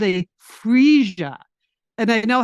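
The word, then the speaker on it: Phryge: No, this thing is called a freesia. And I know how to pronounce it because I heard them talking about it on the Today Show.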